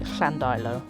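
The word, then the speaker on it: Llandeilo: further on uh now I've got to correct myself apparently it's pronounced sandalio I am English you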